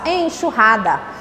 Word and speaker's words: enxurrada: Vou usar o X porque na frente veio um em. E esse aqui também vai ter som de CH. Então, quando eu pronuncio, eu faço enxurrada.